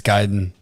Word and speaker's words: Gaiden: It's Gaiden. Yeah, I say the Gaiden. Yeah, I say Gaiden. It's Gai. That's Guy. It is Guy, but it's a Gaiden.